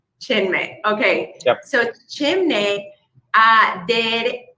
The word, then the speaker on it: Chinmay: How do I pronounce it? Chinmay. Chinmay.